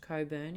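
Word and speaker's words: Cockburn: rhodes and coburn sound yes i know how it's spelled it's pronounced coburn in western australia in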